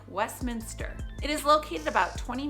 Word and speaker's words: Westminster: for it it is Westminster there's a lot of people that I hear say I live in Westminister and it's like well if you look at the spelling they're adding an additional I which I guess if